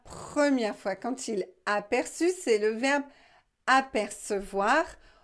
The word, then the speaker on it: aperçu: là c'est dit vous vous devez prononcé appercu mais ce n'est pas la prononciation normal nous devons prononcé aperçu donc nous devons utiliser